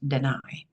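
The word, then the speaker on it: Danay: are interested in channeling her name is Deni NOOA d a n a y d n a y pronounced deny last name Novoa n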